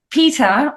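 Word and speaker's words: Peta: But in English from the UK, there's no difference in pronunciation. So it's Peter and Peter. But in the US, there would be a difference in pronunciation. It would be Peter, you, and Peter, Peter with a R sound for the male.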